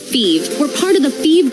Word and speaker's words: Fives: Phoebe is spelled F-I-V-E-S, like the number, but pronounced Phoebe.